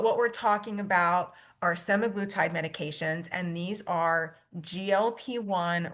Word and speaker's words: semaglutide: Now I've heard this pronounced a bunch of different ways, semaglutide, semaglutide. I'm going to stick with semaglutide for now because that just seems to flow off my tongue a little better.